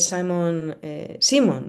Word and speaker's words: Simon: He's Simon, you say it's pronounced, no? Simon, It's not both Simon. fine. It's both fine.